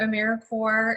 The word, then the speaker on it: AmeriCorps: And we just like to emphasize that AmeriCorps is pronounced as if it was like core of the earth or Marine Corps. It is not AmeriCorps or AmeriCorp because we aren't dead, we're alive and well.